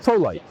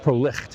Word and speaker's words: Prolycht: I also worked with a company called Prolycht, or sometimes people pronounce it Prolycht because of the way it was spelled, Germanic spelling.